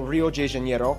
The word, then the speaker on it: Rio de Janeiro: from the old capital Rio de Janeiro that's right it's pronounced Rio de Janeiro not Rio de Janeiro get it right we're not in Mexico this is Portuguese not Spanish this was done in